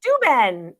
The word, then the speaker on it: Steuben: And it is signed by, it's spelled Steuben, Steuben, I think, Steuben. Steuben, yes.